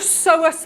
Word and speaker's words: psoas: Something called a psoas march. That is spelled P-S-O-A-S, a psoas march.